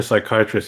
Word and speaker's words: psychiatrists: Why can't you hear psychiatrists using the bathroom? I don't know why. Because the P is silent.